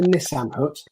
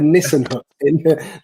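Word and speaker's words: Nissen hut: a Nissan hut complex, not a Nissan hut, as I pronounced it in the video, a Nissan hut.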